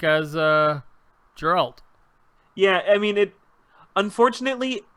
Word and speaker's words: Geralt: Am I saying that Geralt. right? Geralt. Hard G. Geralt.